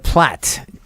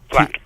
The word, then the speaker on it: Platte: How do you pronounce it, by the way? Is it Ville Platte or Ville Platte? It's Platte. Platte.